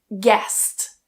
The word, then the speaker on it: guest: So, for example, in the spelling combination gu, for example, in guest, we don't try and pronounce that U. So, don't try and say guest. I mean, you can, people might not understand you and it's really difficult to say. Cut the U. It is silent.